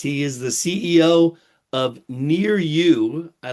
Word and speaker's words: Niryu: He is the CEO of Nir-Yu. I like how you pick names that phonetically are just so easy.